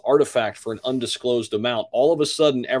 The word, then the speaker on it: RTFKT: bought the virtual speaker company rtfkt pronounced artifact for an undisclosed amount